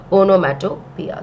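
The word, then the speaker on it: onomatopoeia: onomato Pia okay it's poia but we actually pronounce it as onomia so because you are using a sound word we say that the poetic next poetic device that has been used over here is onomia okay let's just make some space okay the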